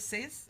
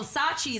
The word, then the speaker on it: Sachi: And then you also have like pieces like, is it Sace? Am I saying it right? Which Sace? one? S-A-C. Oh, Sachi, the romper. Wow. Yeah, So, Sachi.